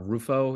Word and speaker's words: Rufo: You talked about, and I might be pronouncing his name wrong, but Rufo, is that correct?